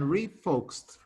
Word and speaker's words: refocused: Here I have the ed that we pronounce t, focused and refocused.